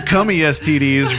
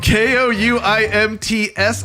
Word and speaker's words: Koumtsidis: He can't pronounce the real name. What the fuck did you just say? He's doing his best, Dylan. Koumtsidis. Cummy STDs. Close enough. Hey, just know that it's Greek.